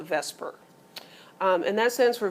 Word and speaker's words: VSEPR: letters to say and you can't really pronounce it but we call it Vesper um and that stands